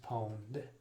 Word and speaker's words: pwned: their logo you've been pwned the connect correct pronunciation for that is pwned it looks like pawn to me but uh poland is the right